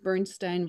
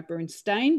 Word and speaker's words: Bernstein: release bernstein reimagined and i'm gonna stick with my bernstein because i know that's the right way to say many americans go with the bernstein because we'll turn it around but bernstein it is my guests today